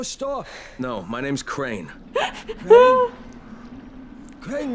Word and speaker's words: Crane: Crane rhymes with train.